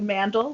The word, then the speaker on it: Mandl: It's Mandl, like handle.